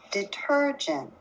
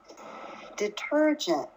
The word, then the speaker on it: detergent: Detergent.